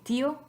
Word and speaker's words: tío: So try to say tío in one syllable. Just try it. Tío, tío, tío. Sounds stupid because we don't want tío, we want tío. So in writing, we accent the I.